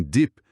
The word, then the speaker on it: dip: É o que chamo de short eye do inglês. É um som que a gente não tem exatamente igual em português. E muitas vezes nós brasileiros acabamos pronunciando como o nosso i de vista, o que pode confundir com outras palavras. em inglês. Praticar esse som curtinho em dip é bem importante, bem notado, uma